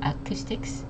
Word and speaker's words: acoustics: uh uh over here the O and the U make a double o sound so it's O Acoustics emphasizing on it Sy second syllable it's Acoustics and last we have